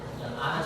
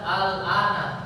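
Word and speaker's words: الآن: Al-ana saja, tapi dalam 2 tempat ya. Jadi cara bacanya dipanjangkan 6 harokat. Jangan cuma dibaca al-ana ya, tapi panjangkan 6 harokat an-nya. Jadi al-ana ya.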